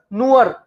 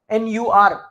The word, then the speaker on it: nur: at the end will be also like Natur, Nuer, N-U-R, so that would be Nuer.